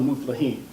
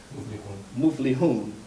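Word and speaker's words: مفلحون: Like, we know that we are the Muflaheen. We are the Muflihun. I can't even say it now. How you say it? Muflihun. We are the successful, right?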